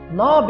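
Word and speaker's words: knob: नॉब एक ऐसा word है जिसके अंदर के है साइलेंट। के साइलेंट है जिसको हम नहीं पढ़ते।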